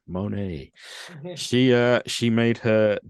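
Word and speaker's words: Moné: know let's dig deeper Mercedes Monet and I have to say it like that because that's the only way to say it money she uh she made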